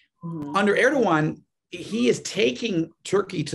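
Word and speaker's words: Erdoğan: recep erdogan i know people read it as erdogan but it's actually pronounced erdogan under erdogan he is taking turkey to the dark side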